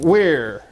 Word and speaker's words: Ware: was thinking werewolf but no it's where as in Hardware he doesn't look like